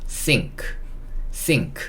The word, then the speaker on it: sink: 영어에서 N과 K로 끝나면 원래 N은 니은이고 K는 키읔이잖아요. 니은 키읔이 아니라 N과 K가 이렇게 만나면 원래는 따로따로 이렇게 되는 건데, N과 K가 만나면 이 N을 우리가 이응으로 인식을 해서 발음을 하게 됩니다. 그래서 요 N이 니은이 아니고 이응으로 가는 거예요. 그리고 K는 그냥 이렇게 됩니다. 그래서 이거는 sink 이렇게 읽을 수 있어요.